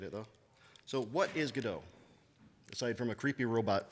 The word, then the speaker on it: Godot: object-oriented uh pretty straightforward API integration and it's pronounced GDAU. I will fight anybody who says otherwise. It is pronounced GDO.